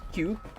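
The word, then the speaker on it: 九: Which is actually funny because nine in Japanese is pronounced Q.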